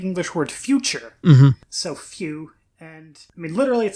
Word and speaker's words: Fu: say his name is phew which is in Japanese this is pronounced well essentially it's the same as in fusion well they write the